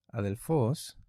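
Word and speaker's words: ἀδελφός: Por ejemplo, un ejemplo común, por ejemplo, es cuando hablamos la palabra adelfos, que es una palabra que tiene el acento en la última sílaba.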